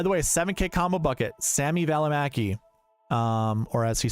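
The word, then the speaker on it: Välimäki: two golfers by the way 7K com bucket Samy valaki um or as he says Sami valaki which is weird I there's a huge finish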